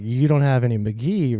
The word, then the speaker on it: Mk.gee: however you want to say it I say McGee McGee it's pronounced McGee has it on the record yeah pronounce McGee